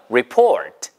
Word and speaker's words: report: report. 아, 우리가 아는 리포트, 뭐 레포트 이런 거 있잖아요. 근데 발음 주의하세요. 이게 그냥 레포트, 트 발음하지 마시고 보세요. report. 트는 들릴랑 말랑. report.